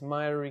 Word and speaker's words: miry: When we're talking about the not the good clay, mighty clay, I guess you pronounce it? Yes, miry clay, yeah.